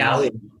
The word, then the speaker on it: Allium: Allium? Yeah, the Allium.